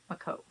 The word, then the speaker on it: Makov: do you pronounce it i pronounce it makov technically there's like two k sounds in there but i'm kind of lazy so a cove um think of like an ocean cove type place a lot of